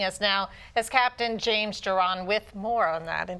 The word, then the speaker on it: Jiron: safety and joining us now as Captain James Doron with more on that and did I say